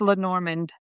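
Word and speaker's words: Lenormand: It it it's lenorand lemon. I always say lemon lor. It's pronounced Len Normand.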